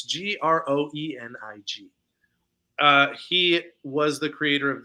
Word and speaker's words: Groening: I don't know how to pronounce his last name. It's Groening.